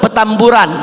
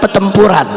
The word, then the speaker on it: Petamburan: Jangan salah sebut petamburan bukan petempuran.